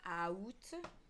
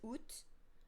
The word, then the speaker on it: août: Like at one point, I literally thought it was out instead of just ut, because in Italian, every single consonant is pronounced as the pure vowel sound. So I'm used to, if I see every single vowel in Italian, I literally pronounce every single thing.